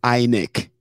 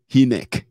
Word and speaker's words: INEC: Only a few people realized that some pronunciations, if it was a human, if it was Chimamanda herself, she wouldn't call Inec, Hinek.